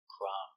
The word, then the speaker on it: crumb: Remember, no B sound, crumb. It's countable. One crumb, two crumbs. One, two, three, four crumbs. There are crumbs on the table after he ate the cookie. Clean the crumbs, please. Pronunciation crumb k r kr uh kruh m crum One crumb, two crumbs